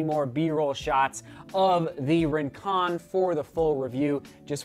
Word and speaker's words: Rincon: And I'll begin by saying the Rincon, and yes, it is pronounced Rincon. I was corrected after the first impression. It's not Rincon, it's Rincon.